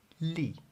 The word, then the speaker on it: 利: part the second character Lee and I also pronounce that with a downward intonation that's also the fourth